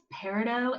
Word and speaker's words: peridot: Peridot, it's French, the T is silent.